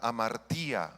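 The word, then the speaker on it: ἁμαρτία: La palabra griega para pecado es la palabra amartía, amartía con H al principio y acento en la I. Amartía significa errar en el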